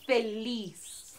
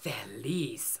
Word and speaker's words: feliz: Feliz. Feliz.